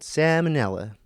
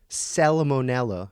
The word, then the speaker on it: Salmonella: Salmonella, I think is how it's correctly, the Latin pronunciation.